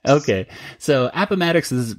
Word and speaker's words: Appomattox: Is that, that's how we pronounce it, right, Kelly? I'm asking my Civil War. You're my Civil War. Yeah, buff. I mean, yeah. That's the way I've always said it. Heard it is Appomattox.